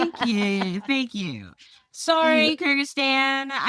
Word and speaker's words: Kyrgyzstan: Kyrgyzstan. Okay, thank you. Sorry, Kyrgyzstan.